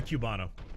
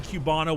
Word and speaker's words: Cubano: Like just the proper Cubano with those slices of pickle and getting the right cuts and you press that shit properly. Oh, it's Cubano, not Cubano. Oh, it's Cubano is how it's pronounced.